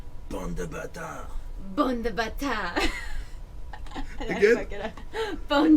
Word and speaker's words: bande de bâtards: Bon de bâtard. Yeah, but now you have to say it like Bande de bâtards.